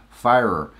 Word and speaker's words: Feyrer: last name is pronounced fire ER so it's like fire with an ER at the end fiber oh man it's